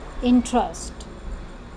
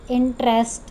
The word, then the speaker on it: interest: So some of us pronounce it as interest or interested or interesting. It is not a tress, it is trust. Interest, interested, interesting. So a sound will be there. This is called a sound. Interest, ust, not est.